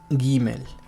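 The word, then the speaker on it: גימל: Siempre tiene un sonido fuerte, explosivo como en gato. Debe evitarse el error de pronunciarla suave como en gema, donde la G suena aspirada como la H inglesa o la J caribeña.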